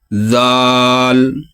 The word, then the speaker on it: ذال: کو ادا کیا تھا۔ اوپر والے دانت اور نیچے والے دانت، ان دانتوں کے درمیان آپ رکھیں گے اپنی زبان نرم لہجے سے، ذال ذال ذال، اور یہ جو را